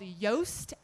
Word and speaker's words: Yoast: down write down this tool um it's called yoast seo that's spelled y-o-a-s-t seo and it's a wordpress plugin